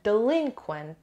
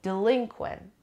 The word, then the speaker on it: delinquent: meanings first of all the pronunciation delinquent the stress is on the second syllable delinquent or quent believe after